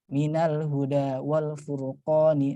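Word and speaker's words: مِنَ الْهُدَىٰ وَالْفُرْقَانِ: pertama kali belajar ini, mungkin bacanya minaul huda wa ul furqani. Mungkin ada yang membacanya seperti itu karena dianggapnya dhamma. Padahal ini bukan dhamma ya. Ini adalah hamzah wasal yang ketika posisinya berada di tengah-tengah dia tidak dibaca ya.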